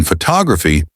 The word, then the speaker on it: photography: For example, in photography, the stress is on the second syllable, which guides the listener's comprehension.